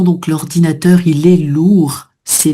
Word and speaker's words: lourd: Donc l'ordinateur, il est lourd. C'est lourd. Là, on prononce pas le D, tu vois, masculin.